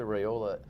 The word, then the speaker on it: Raiola: Lisa Raiola rhymes with Crayola.